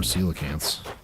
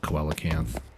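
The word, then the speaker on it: coelacanth: Cuz then I can start getting more celacants. That is how you pronounce it, by the way. I used to call it koacanth cuz that's kind of how it's spelled.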